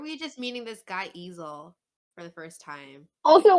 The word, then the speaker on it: Easel: Like an easel.